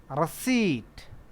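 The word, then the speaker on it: receipt: रसीट, क्या? रसीट, RACEIPT, रसीट इज P silent रहता है।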